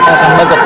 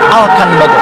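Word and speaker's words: Elkan Baggott: Tadi kalau di announcer tuh terdengar kalimatnya sebutannya bukan Elkan Bagot, Alkan Bagot. Alkan Alkan Bagot. Itu pronunciation-nya di sana.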